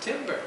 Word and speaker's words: timbre: is what it was we had the word tamra in the script and he wanted to pronounce it timber you could pronounce it both ways but it's like the